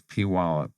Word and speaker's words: Puyallup: She likes to tell people it's Puyallup. They always misspell it, but she makes sure that everybody knows the correct Puyallup.